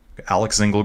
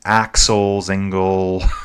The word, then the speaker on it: Axel Zingle: Alex Zingle got Axel Zingle. I butchered it again. I keep calling him Alex.